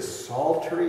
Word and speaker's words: psaltery: It is a psaltery. It's spelled with a silent P like Psalms. It's P-S-A-L-T-E-R-Y.